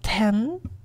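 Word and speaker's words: 天: Next up we got heaven, pronounced ten, and it's kind of like the staircase to heaven, that's how I see it.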